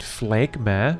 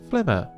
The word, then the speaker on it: Phlegma: It's also sometimes nice to simply save yourself from the embarrassment of calling it Phlegma when it is pronounced Phlegma, right?